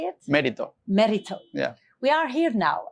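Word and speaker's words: Mérito: yeah merito how do you say it merito merito yeah we are here now and it's a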